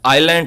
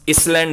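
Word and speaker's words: island: आइलैंड है लफ्ज़, इसलैंड नहीं है, आइसलैंड नहीं है, आइलैंड। ऐसे इसमें साइलेंट होता है।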